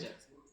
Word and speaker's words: Khunter: Khunter. Khunter is the correct pronunciation. Yes. Welcome, Adit. Kunter?